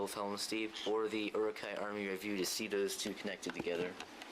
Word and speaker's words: Uruk-hai: So next we have Uruk-Hai Army, or as the designer Martin Klotz says it, Uruk-Hai Army, but that's not how you say it.